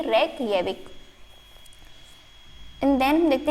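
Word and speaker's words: Reykjavík: ठीक है, यहाँ पे जो जे का प्रोनाउंस है वो ये है ये, तो इसकी कैपिटल हो जाएगी रेकयाविक।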